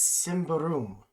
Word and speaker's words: Symbaroum: gonna pronounce it wrong it is Simba room at least that's how the internet says to pronounce it it is a kind